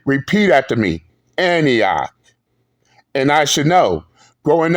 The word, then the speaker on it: Antioch: there and constantly saying Annika High School, Annika this, Annika High School, Annika. First off, Big J, it is pronounced as Antioch. No, Big J, repeat after me. Antioch.